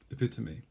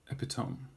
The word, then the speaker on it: epitome: How many syllables? 4 syllables. Epitome. It's not epitome.